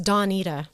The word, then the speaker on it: Donita: say don because my the way he pronounced my name is really danida it's danita yeah so he'd say